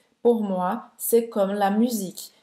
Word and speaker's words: musique: Então você vai abrir um pouquinho a boca para sair o resto do som, musique. E às vezes a gente acha que parecia um A, mas na verdade não é, né? É só o final da pronúncia.